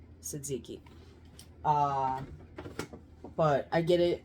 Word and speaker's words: tzatziki: best tzatziki dip um the tea is silent Suzuki uh but I get